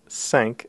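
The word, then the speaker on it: cinq: so cat cat sank the number sank is yet another nasal vowel so a little bit different from it's a slightly higher nasal vow and so we pronounce sank again feeling a vibration in the area of the nose rather than down in the throat CE the number CE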